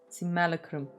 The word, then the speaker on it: Simulacrum: Simulacrum. That's how you're supposed to Breach's pronounce it?